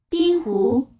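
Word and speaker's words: 冰壶: 근데 발음이 이 컬링이라는 발음하고 비슷한지 한번 들어보시겠습니다. 빙후.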